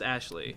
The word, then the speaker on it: Aisling: It's spelled Aisling, but it's pronounced Ashley. That's right. It's a weird Celtic thing.